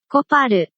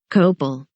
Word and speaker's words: Copal: I find it interesting that they pronounce it コパル and we say Copal.